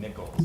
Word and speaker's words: Nichols: Nichols.